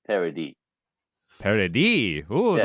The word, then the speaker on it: Paradis: Oh, it is actually pronounced Paradis. Paradis. Ooh, Yeah. like a French almost. But I am Paradis. So in French, anything after the last vowel is silent.